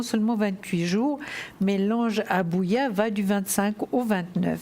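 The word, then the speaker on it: Habuhiah: Il s'appelle Abouya. Alors ça s'écrit H-A-B-U-H-I-A-H.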